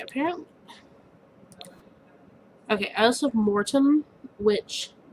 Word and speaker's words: Mortem: okay i also have mortem which i'm pronouncing it that way to emphasize that it's more tim and not more than mortem yeah it doesn't